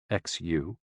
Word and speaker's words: Xu: The 6 sounds are XU, pronounced like shh, with a deep sigh, which is associated with the liver, He, pronounced like her, with a yawn, which is associated with the heart.